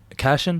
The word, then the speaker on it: Cashion: Cashion, that's how I pronounce it? It's like fashion, but with a C.